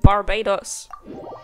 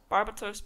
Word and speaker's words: Barbatos: Let's head back to the cathedral and let's pray to Barbados. Barbados. Barbatos. Barbados sounds even weirder. That sounds even more like barbecue. Barbatos.